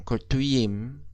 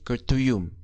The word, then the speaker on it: kötüyüm: Di sini ben kötü, lah ini ditambah M tetapi bukan im, bukan kurtuyim tetapi kurtuyum.